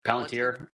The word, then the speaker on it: Palantir: So the founder of Palantir, how do you say it? Palantir.